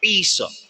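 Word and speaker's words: Íosa: and Gaelic guess what it is Esau i-o-s-a Isa okay so now if she was speaking Gaelic then why didn't she say Esau why didn't she say Isa in the Quran guess what a law says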